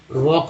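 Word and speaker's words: walk: वॉक में एल जो है साइलेंट है, ठीक है, वॉक में एल जो है साइलेंट है।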